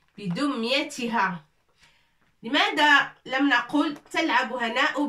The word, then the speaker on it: بدميتها: Ça, c'est 2 points pour prononcer le T. Avec كسرة, ça fait T. بدميتها.